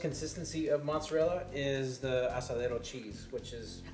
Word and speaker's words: asadero: Get yourself some asadero cheese. Asadero. Asadero. It's pronounced asadero or Oaxaca cheese.